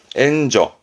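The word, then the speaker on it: 援助: 그래서 뭔가 원조하는 도와주는 발음은 엔저.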